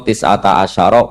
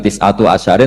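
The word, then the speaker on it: تسعة عشر: Padahal itu jadi mubtada muakhar aliha iku tetep ing atase neroko tisata asyaro utawi 19. Tetap bacanya bukan tisatu asyarin tapi tisata asyar.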